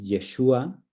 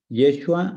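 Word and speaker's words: ישוע: Aquí en esta primera parte dice Yeshua, Yeshua o Yeshua.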